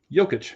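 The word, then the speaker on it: Jokić: Yokic. Yic. How do you say it? Yic.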